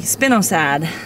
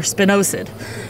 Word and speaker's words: spinosad: species of insects, is the spinosad or spinosad, depending on how you pronounce it. I've heard it both ways.